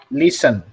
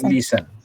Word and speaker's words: listen: Ada yang kedua bacanya listen. Jadi T-nya nggak dibaca. Jadi listen.